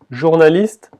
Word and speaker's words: journaliste: Y si ve la última letra, la E de journaliste, no se pronuncia. O sea que solo la T se escucha.